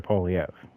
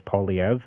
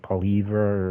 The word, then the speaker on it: Poilievre: See, me personally, I'm with Pierre Poilievre. You know what I mean? And that's how you pronounce his last name. It's Poilievre. It's not Poilievre or nothing like that.